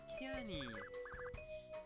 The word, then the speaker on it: Kiani: I'm Kiani. It looks like Kiane, but it is actually pronounced like Cayenne, the pepper, or like Cheyenne, Wyoming, Cheyenne, Wyoming, but without the H and without the Wyoming.